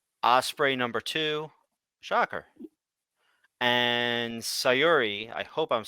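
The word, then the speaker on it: Syuri: number two shocker and sayori I hope I'm saying that right at number three might be Siri like Siri it could be like Siri but it's spelled s-y-u-r-i Mexico MVP Elijo Del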